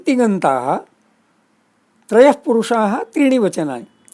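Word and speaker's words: तिङन्तः: See, I am trying to be conscious to pronounce tigantaha as tigantaha. There should not be a sound of g in between, not tingantaha. Tingantaha. Ng only is to be pronounced as ng.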